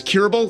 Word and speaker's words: Kuribl: My CBD company is Curable. That's spelled K-U-R-I-B-L. Curable, K-U-R-I-B-L.